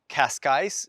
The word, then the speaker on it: Cascais: So in English, Cascais is perfectly normal. That's how you would say it. If you're trying to learn Portuguese, then you've got to get that j, that sh sound, so it's Cascais.